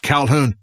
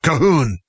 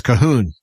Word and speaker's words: Calhoun: shook their head and they said no not Calhoun kahoon and so that's my Gaelic name is Cahoon and it's even spelled much different you don't